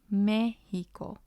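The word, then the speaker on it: México: wanted it to sound so we add the accent to the vowel within the syllable that we want to stress so we want it to sound like mexico and that's why the e has the accent let's look at another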